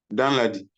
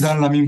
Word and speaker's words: Danlami: Danladi. My name is Danlami. But I'm saying Danladi here now. You are not pronouncing it correctly, but never mind.